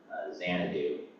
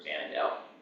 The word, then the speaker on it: Xanadu: thing in 1960 called, I might butcher the pronunciation, but Project Xanadu, or Xanadu.